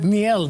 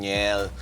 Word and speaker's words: Njel: Please welcome Njel de Mesa.